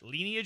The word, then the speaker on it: lineage: Lineage instead of lineage. Yeah, you said it like instead of Lynn, you said lean.